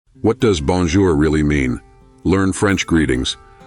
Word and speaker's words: bonjour: Pro tip, make sure you pronounce there softly, like a gentle R. Repeat after me, bonjour.